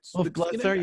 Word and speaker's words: Wolf Blitzer: - Wolf Blitzer, yeah.